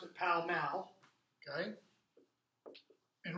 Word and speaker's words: Pall Mall: Down here you have, we pronounce it Pall Mall, they pronounce it Pall Mall, okay?